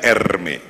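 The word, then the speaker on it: Hermès: ini ada merek Hai namanya Hermes bacanya Ermi yang sangat dicintai oleh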